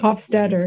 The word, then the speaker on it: Hofstadter: With Douglas Hofstadter, did I pronounce that? Hofstadter, right?